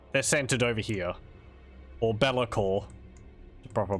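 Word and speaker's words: Be'lakor: Or Belakor. The proper pronunciation, but I'm stubborn.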